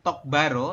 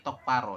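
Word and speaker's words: 똑바로: Jadi bukan tok baro tapi tok paro dibacanya.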